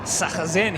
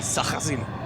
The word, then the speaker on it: Sachazen: Jason Bright and Stefan Sachazen, he told me is how you say it. Dean Fiore and Gianni Morbidelli. 27 belongs to Warren Luff and Marino Franchitti, and Carl Reindler and Fabrizio Giovanardi bring up the rear of the grid. Do you need a cough lozenge? You okay? I went and asked him on the weekend. I said, you tell me how to pronounce it. He said, Sachazen.